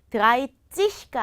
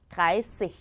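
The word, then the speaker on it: dreißig: 드라이찌히가 아니라 드라이시히.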